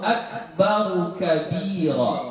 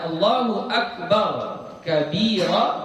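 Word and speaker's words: أكبرُ كبيرًا: Jadi kita baca Allahu Akbaru kabira, Akbaru kabira. Itu cara bacaannya paling benar. Tapi sekiranya kita baca Allahu Akbar kabira juga tidak mengapa, ya, tidak salah. Tapi kalau yang paling bagusnya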